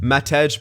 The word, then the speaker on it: Matej: here this one's from Cody Smith first stuff Matej pecker is how you pronounce the new fourth line dude's name all